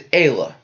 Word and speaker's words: Aayla: how to pronounce me it's very like Sakura Aayla Secura we're gonna go back it's mainly the first name I have trouble is Ayla yeah it's definitely Sakura it's Ayla it's the we both do